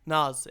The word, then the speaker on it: Nas: No, how do you say it? Nas. Nas.